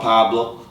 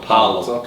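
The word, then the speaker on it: Paolo: Talk about Pablo. Did I say it right? Paulo.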